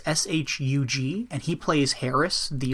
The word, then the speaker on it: Shug: The other guy is, I don't know how to pronounce his name. I'm going to call him Shug Fisher. It's Shug, and he plays Harris, the old drunk guy.